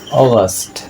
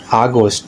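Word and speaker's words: August: অগস্ট অগস্ট, নট আগস্ট। আমরা সাধারণত এটাকে আগস্ট পড়ি, তাই সুন্দর উচ্চারণ হচ্ছে অগাস্ট অগাস্ট অগাস্ট।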